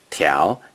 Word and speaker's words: 條: 条 is the second tone.